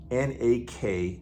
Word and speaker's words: nakama: I love you I really do because you're nak you're part of our nak and if you're brand new look look up that word n a k a m a nak it's actually a Japanese